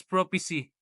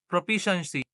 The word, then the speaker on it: proficiency: mispronounc mispronouncing proficiency as prophecy instead of proficiency.